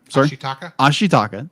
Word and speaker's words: Ashitaka: air quotes um like heals how do you pronounce zimbabwean ashitaka thank you i am terrible with names ashitaka